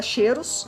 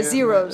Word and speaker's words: Xeros: E, pra terminar curiosidades aí, um dos meninos, né, lá do planeta Cheiros, Cheiros. que é o Daco. A pronúncia não é essa, tá, gente? É porque... É Zeros.